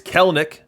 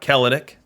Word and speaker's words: Kelenic: It's Kelenic, not Kelenic.